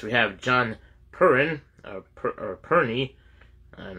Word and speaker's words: Perne: all right next we have John Perrin or perney I'm not sure how you pronounce that he gets p-e-r-n-e is the parenthesis I guess it's pronounced perny or Pern uh maybe the E's silent so it's so how